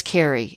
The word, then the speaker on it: Kari: So he and his wife, Kari, are going, or is it Carrie? No, it's Carrie. It's just spelled like Kari.